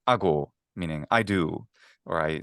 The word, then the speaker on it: ago: And but however, it does not lengthen syllables that are stressed. So you Mm. can Mm. have something like ago, meaning I do, or I like this the related to the English word act.